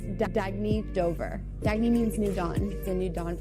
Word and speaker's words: Dagne: good you can live life intentionally oh it's pronounced dagne do dagy means New Dawn a new dawn